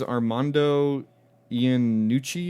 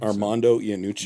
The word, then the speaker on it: Armando Iannucci: His name is Armando Iannucci, is I think how you pronounce it. Mm-hmm. I mean, it sounds Italian, but he's a Scottish director. Armando Iannucci.